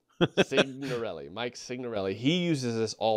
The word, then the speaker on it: Signorelli: I got a real issue with that name, apparently, saying like sign, only okay. You pronounce the G. Signorelli.